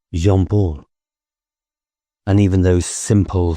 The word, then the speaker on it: Jean-Paul: Beanpole's name, I learned, was not Zanpaul, but Jean-Paul.